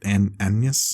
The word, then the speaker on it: Agnes: The movie starts with Shakespeare meeting this woman Agnes, but they pronounce it an anus.